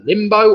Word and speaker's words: limbo: That was the limbo or limbo. That rhymes with bimbo.